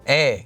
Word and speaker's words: 의: Before you start watching this video, make sure you are already familiar with how to use this marker here, 의, pronounced as 에.